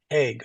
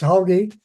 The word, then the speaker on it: Hogue: Have you reviewed the rebuttal testimony of WWF witness Tom Haig or Hogue? Yes. It's Hoagie.